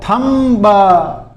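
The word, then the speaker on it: thumb: Spelling देखो टी एच यू एम बी थंब लेकिन इसके बी साइलेंट रहता है। थंब नहीं बोला जाता है। क्या बोला जाता है? थंब थंब थंब B silent रहता है यानी थंब इसको क्या बोलते हैं अंगूठा ध्यान रख लेना इसमें बी साइलेंट रहता है लेकिन बहुत से लोग बहुत से स्टूडेंट बोल दिया थंब अरे थंब नहीं होता है सिर्फ थंब होता है फिर देखिए डाउट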